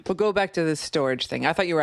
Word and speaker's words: Storj: I guess um after talking to people who work at storage, they pronounce it or they pronounce it storage even though it's you know s o rj.